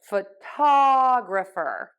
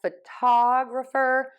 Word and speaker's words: photographer: have graffer and graphy we are going to stress the syllable before the suffix so in this case the photography photographer okay so I shift my stress to right before the grapher and graphy so photo photograph photographer photography